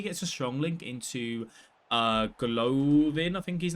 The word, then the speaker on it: Golovin: Obviously, he gets a strong link into Golovin, I think his name is. I don't know how to say his name. Is it Golovin? Have a look. Yeah, Golovin, sorry.